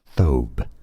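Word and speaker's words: thobe: pronounce it hold on I learned how to pronounce this um thob thob dude why aren't you why didn't you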